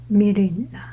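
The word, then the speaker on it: Myrina: meina or my mil it's like m y me this y does not pronounce y i pronounce m y r i n a m mirina so if you have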